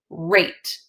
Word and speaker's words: rate: r8e rat right now if I add the silent e to the end I get rate right so we get that a sound rate how about if I